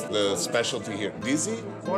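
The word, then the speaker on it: dizi: How do you pronounce the specialty here, Dizzy? What they serve is called DZ, which actually is the name of the pot.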